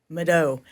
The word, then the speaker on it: mvto: Mado. So it's pronounced kind of like a U.